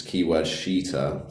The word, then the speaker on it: Keyword Sheeter: is Keyword Sheeter, so it's spelled SHEET, like a sheet. Yeah. Obviously, it actually used to be called Keyword, swear word, but they changed it to Keyword Sheeter, like a sheet on a bed.